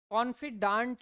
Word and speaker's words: confidant: कॉन्फिडांट भी बोल सकते हैं, कॉन्फिडेंट भी बोल सकते हैं। कॉन्फिडांट प्रोनाउंसिएशन करते हैं इसको हम, बिल्कुल सही है ये कॉन्फिडांट।